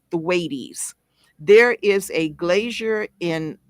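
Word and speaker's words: Thwaites: Florida and it's called thees it's looks like the word wait like wait wait wait for me but it has a th in front of it and it has a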